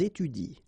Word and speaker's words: étudient: So you will get ils étudient, all right? Ils étudient. You don't pronounce that.